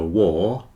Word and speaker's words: war: remember when there's a war there are lots of poor people War rhymes with poor card here is a